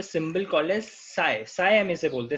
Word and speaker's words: psi: ठीक है, इसको हम बोलते हैं साई, PSI, P साइलेंट है तो इसको हम साई बोलते हैं।